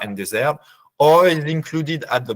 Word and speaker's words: dessert: You've noticed, I think, that we don't pronounce the last letters, plat, dessert. And then once you are facing this, you can make a choice.